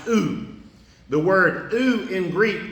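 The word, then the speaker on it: οὐ: It's pronounced oo.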